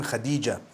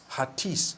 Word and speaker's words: Hatice: I came across the name Khadija. In Turkish, some people spell it Hatice. I would say Hatis for that. No, it's actually Khadija.